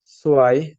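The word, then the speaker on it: zwei: আর এই দুইটা একসাথে থাকলে আমাদের উচ্চারণ হবে আয়ের মতন। এটা অ্যালফাবেটে পড়ছিলাম। সো ওয়ান কে আমরা বলবো আইনস, সোয়াই।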